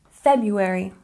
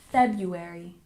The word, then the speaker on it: February: etiquette and number seven February we stress the first syllable and we drop that first R sound February February one more time February good number eight is